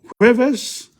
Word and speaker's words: jueves: Lunes, martes, miércoles, jueves, viernes, jueves. See, the J is not pronounced, it's pronounced like a H.